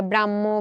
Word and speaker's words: ব্রাহ্ম: এখন এই যে শব্দগুলো এই শব্দগুলোর উচ্চারণ মূলত মহ এর মত হয়ে থাকে আমাদের কাছে। তাই না? মহ। দেখো ব্রাহ্ম। এই শব্দটাকে আমরা উচ্চারণ করতেছি। কিন্তু ম এবং হ এর মত।